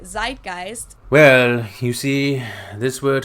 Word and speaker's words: Zeitgeist: good word sist I like in German we pronounce it sist and this consists of the word TI which